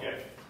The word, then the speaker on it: GIF: I call them a GIF. Hard G, hard G.